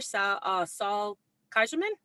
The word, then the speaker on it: Saul Kaiserman: Rabbi and our guest song leader, Saul Kaiserman. Did I pronounce it correctly?